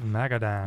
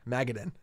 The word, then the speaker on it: Magadan: that word again dave mcadam you put the emphasis on the wrong syllable there magadin magadin megadan pat perry